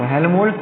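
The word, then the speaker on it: Helmholtz: तो हेल्महोल्ट्ज़ coil is a combination of to coil जो कि आमने सामने ऐसे ऐसे रखे हुए हैं।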